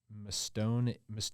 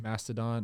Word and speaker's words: Mastodon: It's like the Mastoon Invite or something like that. It was Mastodon.